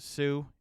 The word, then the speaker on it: Hsu: Jeremy, I'm assuming this is pronounced Sue, HSU.